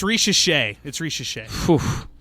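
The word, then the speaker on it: Risacher: I don't even know how to pronounce Zachary Saker. I might be pronouncing it wrong. So it's Risha Shea. Yeah. Zachary Risha Shea.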